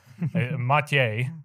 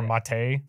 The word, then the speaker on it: Matej: don't really know how to say your name m is what I would say that's correct right it's pretty good pronunciation yeah because we have different people like